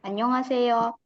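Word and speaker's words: 안녕하세요: dibacanya Nah di sini ada catatan untuk a kurva di huruf H ini ya akan dibaca samar sekali annyeonghaseyo kalau secara penggalan dia tetap Dibaca tapi secara natural annyeonghaseyo ini artinya apa Halo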